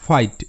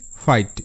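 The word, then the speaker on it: fight: আই জি এইচ টি ফাইট এফ এর জন্য five G এইচ টি আইট ফ আইট ফাইট এখানে বিশেষ কিছুই মনে রাখবো না জি এইচ এর সাউন্ড মনে রাখবো না জি এইচ এখানে সাইলেন্ট জাস্ট মনে রাখতে হবে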